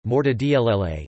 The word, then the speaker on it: mortadella: Mortadella, Italian pronunciation, mortadella, is a large Italian